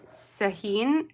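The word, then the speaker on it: Sahin: came from a uh I never say her name right it's saheen s-a-h-i-n designs I believe she sells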